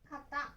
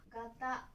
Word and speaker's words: 方: Nó có thể được đọc là "kata", "gata" hoặc "hou".